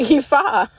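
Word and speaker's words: Aoife: by this stepmom and the stepmom's name was pronounced EA that's not what it looked like but she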